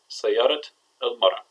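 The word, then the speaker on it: سيارة المرأة: woman, Sayarat el Mara, we hear one T Tamarabuta pronounced as T and one pronounced as an A. Sayarat el Mara.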